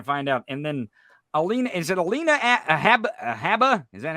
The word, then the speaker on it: Habba: And then Alina Habba? Is that how you say her name? Yeah, Alina Habba.